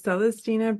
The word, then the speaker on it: Celestyna: print they go what so my name is celestina um and it's okay to mispronounce it I I don't get mad about